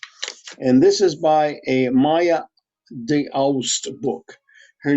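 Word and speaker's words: Maja D'Aoust: And this is by a Maya de Aust book. Her name is spelled Maja D, comma Aoust.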